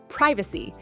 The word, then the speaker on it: privacy: Privacy. British, P-R-I-vacy, American, P-R-A-I-vacy. Which one do you use?